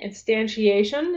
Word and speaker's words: instantiation: I hate this word instant eation instantiation is how how it's pronounced but it just every